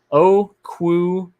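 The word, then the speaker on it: Okuayinonu: Wait, there's a pronunciation guide on the Niners website. It's Okuayinu.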